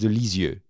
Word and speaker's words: Lisieux: Therese of Lisieux or if you want to pronounce it correctly in French set that has de L'enfance is you that has delese you that's how you pronounce it not to Ruiz of leads you